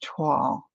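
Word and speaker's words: toile: this isn't waxed either yup it's t-o-i-l-e thank you Angela but pronounced tall okay I gotta try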